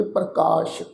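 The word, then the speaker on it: ਪ੍ਰਕਾਸ਼: ये शब्द है जी पप्पे के पैर च अद्धा रारा कक्के नूं कन्ना सस्से पैर बिंदी लगा के पाठ उच्चारण करांगे प्रकाश।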